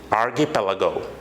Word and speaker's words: archipelago: This term has been used over there, archipelago. So that is the correct pronunciation of that one.